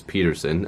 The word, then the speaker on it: Pettersson: elias peterson now again a lot of people are gonna say that's not how you say his name if you search up a video that the Canucks did they were interviewing Elias Peterson I know it's really weird to say it like that but he actually said he would like people to say it Elias Peterson now he'll probably never